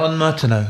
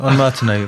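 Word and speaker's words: ondes Martenot: be playing is it is it pronounced a on marau yeah on Martino on Martino Martino waves after the inventor Maurice Martino Frenchman in the 1920s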